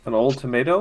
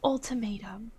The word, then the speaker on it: ultimatum: I saw it coming an old tomato and it's still it's pronounced ultimatum that's I mean I'd